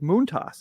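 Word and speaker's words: Montas: his name this week, Moontoss is how he asked you to pronounce it.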